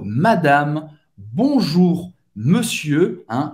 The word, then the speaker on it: madame: Senhora, madame, madame, bonjour, madame. Acaba no M. Você não vai pronunciar o E no final.